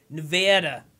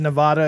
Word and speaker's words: Nevada: You said Nevada, and they're like, Nevada. No, they're like, it's Nevada. Yeah, that's what I said. No, that you didn't say it right. It's like, yeah, I said Nevada the first time. And they're like, no, it's Nevada.